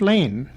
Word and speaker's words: Lean: the Nan's brothers and the wad Studio captain lean's name was spelled l e aan and pronounced Lean by the family but public usage chose to pronounce it Lan Mrs Emily stubs of Nelson was a receptionist